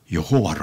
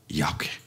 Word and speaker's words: 야훼: 근데 여호와란 말은 영국 사람들이 야훼를 그렇게 발음을 한 것이고, 원래 이름은 야훼, 하나님. 우리가 여호와 하나님 할 때 그 원래 발음은 그 야훼.